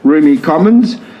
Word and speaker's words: Rumi Komonz: So Rumi Komonz, pronounced Rumi Komonz.